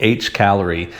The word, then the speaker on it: Hcalory: sent to me by a company called H Calorie. And it's spelled just like you see it here in the front. H C A L O R Y.